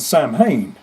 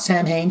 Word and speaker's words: Samhain: Well, kind of how we did back in the day with Danzig and Sam Hain. someone's going to get mad at me. It's not Sam Hain, Shane, it's Samhain.